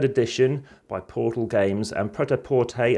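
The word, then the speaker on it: prêt-à-porter: by portal games and protaporte as it's pronounced in french as uh best as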